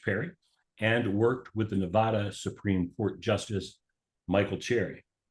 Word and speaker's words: Nevada: So you are in northern Nevada. Nevada. Yes, Nevada. we are. Nevada. You got to say it right. Only those that aren't from Nevada say it incorrectly, right?